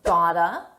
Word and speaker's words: got to: Got to is pronounced gotta.